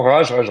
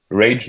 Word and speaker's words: Rage: On dit Rage ou on dit à l'anglaise Rage ou comment vous le prononcez? Non, Rage, c'est bien, oui.